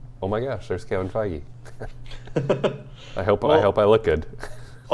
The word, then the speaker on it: Feige: It's not Kevin Feige or Feige? It's Kevin Feige.